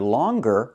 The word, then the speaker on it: longer: But with the word longer, we pronounce the G.